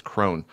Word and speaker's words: Crone: I think it's Crone. She's going to be replacing Neil.